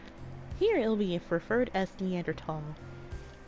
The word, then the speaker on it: Neanderthal: A preference, and there's no H sound when it's pronounced in French and German.